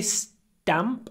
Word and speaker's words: stamp: collector when you say stamp actually stamp we say s damp we don't pronounce t with aspiration like we usually do so we say for